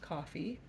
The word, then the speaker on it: Ko-fi: a website name um but it's K fi pronounced coffee so I have been making little I love